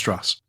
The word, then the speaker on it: Strauss: And it's pronounced Strauss.